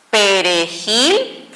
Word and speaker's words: perejil: Por ejemplo, tengo la palabra perejil y tengo la palabra pared. Perejil suena más fuerte en gil y fíjense bien, terminó en cualquier consonante menos NS vocal.